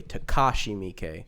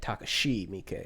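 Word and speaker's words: Takashi Miike: or takashi i forget somebody told me that when it comes to pronouncing japanese names americans tend to over enunciate the second syllable so they would say takashi mikey when it would be like takashi mikey or something like that that's just a little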